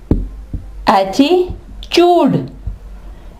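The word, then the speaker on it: attitude: चे की ठीक है टी यू इकट्ठे आ जाए तो यहां ये चे की आवाज देगा इसकी एग्जांपल है एटी एटीट्यूड एटीट्यूड ठीक है एटीट्यूड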